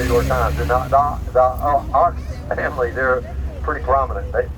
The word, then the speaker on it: Ochs: And the Ox family, they're pretty prominent. But they say Oaks, I understand, in New York.